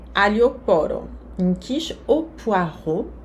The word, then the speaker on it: poireau: Une quiche au poireau. O X aqui não se pronuncia. O A mais o U, o som O. E a vogal E, A, U, som O também.